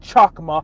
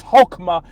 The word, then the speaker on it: Chokmah: supposed to be pronounced, it's not Chokmah, it's Hokmah.